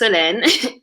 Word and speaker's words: Solène: So, my name is Soléne. It's pronounced Solène. And I am originally from Paris, France.